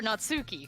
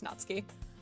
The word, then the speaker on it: Natsuki: Is it Natsky or Natsuki? Cuz there's a U in there. Uh, in Japanese you you drop the U. Yeah, it would be it would be two syllables. It's Natsky.